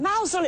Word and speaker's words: Mousehole: Mousehole, it's pronounced. Mousehole, Right, yes, it tells us here, Mousehole. Pronounce Mousehole as in Chairman Mao, which is very helpful.